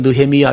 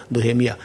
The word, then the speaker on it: 느헤미야: 나함 야훼라는 말의 합성어인데 히브리어는 이렇게 단어가 길어져서 네 음절 좀 되면 앞에 음절을 그 모음을 약하게 해요. 그래서 나함 야훼 하려면 힘들잖아요. 그래서 이건 느헤미야 이렇게 모음을 부드럽게 발음하기 쉽게 해서 느헤미야.